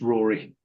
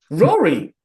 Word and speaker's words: Ruari: Ruari, am I pronouncing your name correctly? Ruari? something. Okay. Very close. It's Rory. Rory. Yeah, What a unique spelling of the word Rory. it's Scots Gaelic.